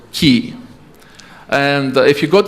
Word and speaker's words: QI: They write it QI for quality, quality, I don't know, index or something. But they pronounce it Key.